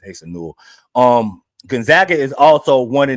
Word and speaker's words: Asa Newell: It's Asa Newell.